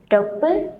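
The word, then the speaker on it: 六分: Angka 1, 3, 6, 8 dan 10. Jadi dibacanya ipen samben, dopun, hapen, dan jupun ya minasang.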